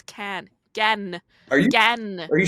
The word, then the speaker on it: Cannes: France, and Gan is how it's pronounced. In French, you do not pronounce the S in Gan.